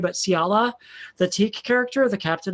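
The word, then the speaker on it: Xiala: Actually you did a good job because it's Ciala. So you're Ciala.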